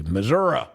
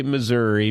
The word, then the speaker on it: Missouri: Sounds practiced with many people who would say Missoura. No. We say Missouri because why? It's spelled with an I, not an A H.